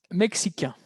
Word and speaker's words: mexicains: Ils sont mexicains. ¿Por qué? Porque la S muda.